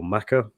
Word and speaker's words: Mecca: is a little rusty is it pronounced Mecca or maca um is it I always assumed it was Mecca but is there a is there a different way of pronouncing that are both correct they're both correct okay interesting yeah and